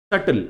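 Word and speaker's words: subtle: पता नहीं होता इसलिए सटल अब यह सटल वर्ड आपने हमेशा सुना है सटल है हा इसमें बी इ साइलेंट बी का प्रोनंसिएशन नहीं होता सटल देखो क्या दिया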